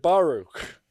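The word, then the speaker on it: Baruch: other than the great Bernard baruk which is how they pronounced it in his day and age in the early 20s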